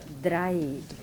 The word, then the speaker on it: drei: So anywhere you see this A on the E and I, yeah, it is always I, like I, yeah.